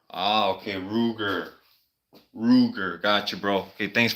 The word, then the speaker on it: Ruger: Okay, Klingas is saying also it's pronounced Ruger. Ah, okay, Ruger.